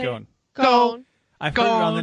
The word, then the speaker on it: Ghosn: Ghosn. I've heard it on the news a lot lately, so I've heard what it is. Exactly. Carlos Ghosn.